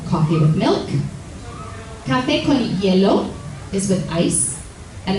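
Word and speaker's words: hielo: Cafe con yellow is with ice and this is pronounced kind of like the word yellow the color in English but with a Spanish accent right yellow kaho has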